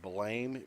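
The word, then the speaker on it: Blame!: anime called, it's spelled Blame, Blame, ! It's based on a manga, but it's pronounced Blam.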